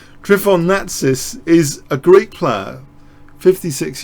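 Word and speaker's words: Natsis: Trifon I'm going to say it how I pronounce my name. Trifon Natis is a Greek player.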